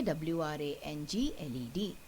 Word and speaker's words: wrangled: Okay, W-R-A-N-G-L-E-D, wrangled. In this case also, children, the first letter in this word, the word W, is silent.